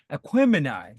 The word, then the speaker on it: Aquemini: And wait, Devon, how do you pronounce this? Aquemini? Aquemini? Gemini. Aquemini.